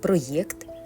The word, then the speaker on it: проєкт: По-новому пишемо і вимовляємо слова: проєкт, проєкція, проєктор. Бо в цих словах є латинський корінь єкт, як і в словах ін'єкція об'єкт.